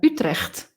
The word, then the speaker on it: Utrecht: And I used to teach at the University of Utrecht, which is Utrecht.